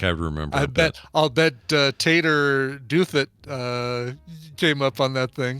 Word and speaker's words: Douthit: Eric Ferris says it's pronounced Douthit. Douthit? Douthit. So Taylor Tater Douthit. I doubt it.